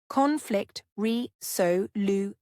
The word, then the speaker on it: conflict resolution: For pronunciation, repeat conflict reoion. Stress is on the first syllable of conflict and the second syllable of resolution.